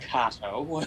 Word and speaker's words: Kato: Oh, it's you pronounced Kato. Sorry. Kato, yeah, Kato. it's fancy. I kept pronouncing it like the Green Hornet character.